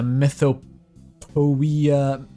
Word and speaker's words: mythopoeia: It's like onomatopoeia.